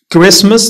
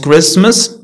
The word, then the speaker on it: Christmas: كتكونش عندهم واحد القاعدة ثابتة castle not castle christmas not christmas fasten not fasten listen هذه كنعرفوها often ولا often بعض المرات كتنطق تي هادشي اللي قلتلكم كيكون فرق ما